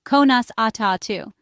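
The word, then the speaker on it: Conas atá tú: The English phrase is how are you and the Irish translation is konas atu pronounced konas atu good morning.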